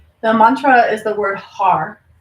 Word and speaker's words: har: Mantra is the word har h a r and we pronounce it like har so it's almost like HUD you're trying to roll the tongue on the top of the mouth but the most important